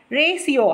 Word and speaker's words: ratio: Ratio, how to pronounce this? Ratio. T is silent here.